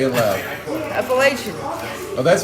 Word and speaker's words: Appalachian: So I'll be a good soldier, because that's what the Appalachian does.